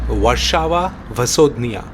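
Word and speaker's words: Warszawa Wschodnia: police ভাষায় উচ্চারণ ওয়ারসাওয়া ভাসোদনিয়া অর্থাৎ ওয়ারসা ইস্ট এই স্টেশন থেকেই ট্রেন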